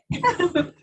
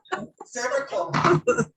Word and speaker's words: ceviche: So like Barbie said, how do you pronounce the ceviche? Like Sorry. Ceviche. cervical.